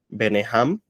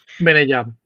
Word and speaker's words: Benejam: Uno es Beneham, corrígeme cómo se pronuncia. Benejam.